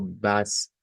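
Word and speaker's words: was: a funcionar esta palabra Aunque comienza con w no se pronuncia la W como vocal sino que se pronuncia como una V Entonces nos va a quedar como bas alas nunas aas nunas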